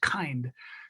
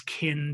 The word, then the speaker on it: kynd: kynd but i'm like how do i differentiate for the reader that's not pronounced kind so i wrote a song in which a woman meets a mermaid out or a merman out in the water and she's and they're rhyming the words kinned and twinned and thinned